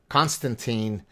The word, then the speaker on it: Konstantin: pleasure of uh hosting constantine am i saying it right is it constantino custom and french would say constantine but how would you